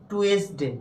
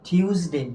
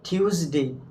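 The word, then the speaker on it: Tuesday: Monday এরপরে আসো এটাকে আমরা উচ্চারণ করি কি টুয়েসডে কি উচ্চারণ করি টুয়েসডে কিন্তু সঠিক উচ্চারণ কি বলতো টিউসডে কি টিউসডে টিউসডে এরপরে এটা উচ্চারণ করি কি বলতো উইটনেস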